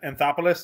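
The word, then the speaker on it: Anthopoulos: a solid margin just last year and Mr anthopolos that's how you say his name he's doing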